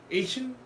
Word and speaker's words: Haitian: Asian Haitian Haitian Haitian haian when some Haitians actually pronounce the word pronounced the word Haiti it sounds close to Asian but Haitians are not